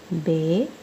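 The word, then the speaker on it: بے: sound okay ah okay third one is Bay Bay has this shape and it has one dot under eight and it has sound of alphabet b b says then B says also ba fourth point is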